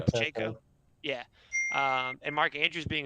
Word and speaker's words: Pacheco: Pacheco. Pacheco.